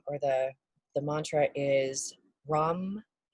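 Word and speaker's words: ram: the the mantra is rum it's r-a-m but it's kind of pronounced like rum so yes i know not rum rum but we're gonna go with that um and we're gonna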